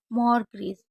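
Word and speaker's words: mortgage: Christmas, soften और मॉर्ग्रीज, इन शब्दों में भी टी का उच्चारण नहीं होता है।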